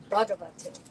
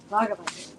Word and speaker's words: Bhagavate: It's more fluid and quicker like that. Om Namo Bhagavate. Like Bhagavate. We're really hitting the first syllable, and then the rest sort of comes along for the ride.